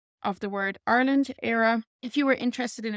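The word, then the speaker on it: Éire: pronunciation I'm offering here is a standard basic pronunciation of the word Ireland era if you were interested in a particular dialect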